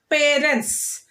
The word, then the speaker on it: parents: Yes, children, first, parents. Here with the two syllables, noun, stress the first syllable.